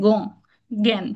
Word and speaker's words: জ্ঞান: জানি রূপ ধারণ করে শব্দের আরম্ভে এই জর ইর উচ্চারণ যুক্ত বর্ণটির উচ্চারণ অনেকটা গ এর মত হয় জ্ঞান জ্ঞান ঠিক না এটা উচ্চারণ গের মতই করি এটা কিন্তু শুরুতে বলেছে শব্দের শুরুতে এই যুক্ত বর্ণটির উচ্চারণ গ এর মত হয় এটা কিন্তু চন্দ্রবিন্দু সহ উচ্চারণ গঞান হ্যা শব্দের মধ্যে বা শেষে